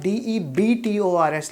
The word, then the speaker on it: debtors: यहाँ DEBTORS लिखा है, B साइलेंट होता है, debtors पढ़ते हैं इसको.